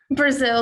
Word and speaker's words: Breazeale: of your last name brazil like the country brazil i thought so hannah